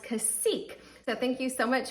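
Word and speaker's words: Cacique: Bryant intimat brand and it is pronounced casek so thank you so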